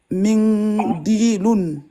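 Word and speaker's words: منديل: Mindilun. Voilà. Prolonge d'elle. Mindilun. Voilà. Mindilun. Et à l'arrêt, comment on fait? Mindilun. Et à l'arrêt, prolonge. Mindil. Très bien.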